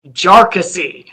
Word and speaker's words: Jarkesy: this, which is that the correct pronunciation of this party's name is Jarkesy.